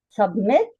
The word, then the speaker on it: submit: Submit. The last syllable is stressed. It is pronounced more loudly and clearly and longer. Submit.